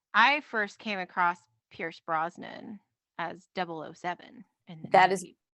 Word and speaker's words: Brosnan: of during that scene now tony mispronounces because i'm assuming he's actually referring to pierce brosnan that was my assumption as well but he said like bronsten or something like that yes he did but